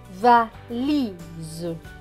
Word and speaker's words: valise: Donc, le S va se prononcer Z. Donc, S et E. Ici, ça va se prononcer Z. Donc, le mot va se lire va, li, z. Valise, valise, la valise.